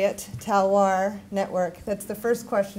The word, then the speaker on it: Talloires: research for the how do you say it talwar network that's the first question i always get how do you say it and then the next question is what is it the talwar network is a global coalition of engaged universities